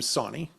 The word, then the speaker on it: Sawney: Definitely Sawney. Now it is spelled with like saw, like knee.